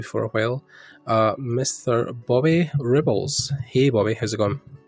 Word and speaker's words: Rebholz: It's pronounced Rebholz. So I either get Rebels or Rebholz, because people like to put the T sound in between the L and the Z because they think it should be there.